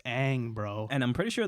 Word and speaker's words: Aang: go off of, and none of them say Ong. I want to know why not a single writer, producer, executive, actor said, but like, it's pronounced Aang, bro.